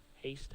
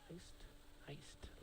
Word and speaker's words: Heist: Haste, I should say. Heist, like a robbery.